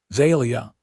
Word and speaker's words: Zalia: Zelia. The name came out like music with emphasis on the second syllable. Zelia, he repeated, and she nodded.